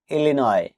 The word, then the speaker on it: Illinois: ILLINOIS ইলিনয়, এখানেও S letter দিয়ে silent থাকবে।